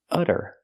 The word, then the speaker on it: utter: it was utter chaos we see the Double T pronounced as a fast D because it's between vowels utter utter it was utter chaos